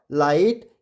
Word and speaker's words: light: यहाँ पे न आई ट नाइट, ट आई ट टाइट, म आई ट माइट और ल आई ट लाइट। इन सब में GH कैसा हो गया साइलेंट हो गया।